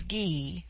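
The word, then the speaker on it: Gy: the singular with man the word for woman is ghee pronounced hard as in guy it forms itself into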